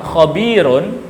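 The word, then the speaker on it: خبير: Dan pada kalimat terakhir yaitu adalah kalimat khabirun, di sini cara membacanya adalah khabir tanpa dibaca tanwinnya, karena kalimat ini dinamakan mad arid lis sukun dan dibaca panjangnya 2 sampai 6 harokat.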